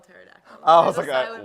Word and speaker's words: pterodactyl: that's how you spell pterodactyl the beginning in the beginning the p is silent Andrew oh well I